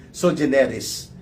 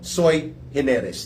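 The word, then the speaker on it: sui generis: Yun pong tinatawag na doktrina ng soe hineres o iba mag-pronounce diyan soeris pero sabi ng mga abogado soy hineres daw po yan ang ibig sabihin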